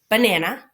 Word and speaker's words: banana: if you think about banana right the first syllable ba is a schwa and says uh the nan is regularly pronounced and the na is